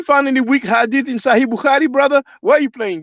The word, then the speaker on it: Bukhari: about sahih bukhari um you will pronounce it bukhari b-u-k-h-a-r-i that's considered the most